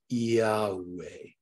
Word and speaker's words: Yahweh: example, if you'll notice, you often use the consonantal pronunciation, Yehovah, okay? But the priestly pronunciation was a vowel intonation, Yahweh. And people want to fight, but actually both were correct.